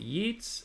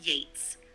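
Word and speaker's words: Yeats: in Yates is it yeets or Yates robot lady ye a TS how do you pronounce that it's pronounced Yates like rhyming with Gates William Butler yeets the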